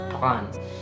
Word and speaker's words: prendre: And then the second half again, you can say dre. And then get faster and faster.